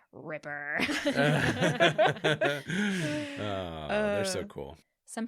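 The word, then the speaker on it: RIPPR: in parentheses like just so you know it's pronounced Ripper oh they're so cool some paleontologists say that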